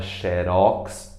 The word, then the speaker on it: xerox: E xerox, sem acento também, a palavra xerox originalmente é uma marca, né? Xerox, xerox, mas todo mundo pronuncia como sendo paroxítona, xerox, tá certo?